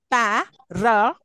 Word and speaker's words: parameter: Parameter. Last. Count from the last. From the end of the word. Third one.